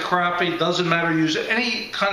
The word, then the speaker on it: crappie: here's this crappie bass crappie is the way the southerners pronounce it I pronounce it crappy doesn't matter use any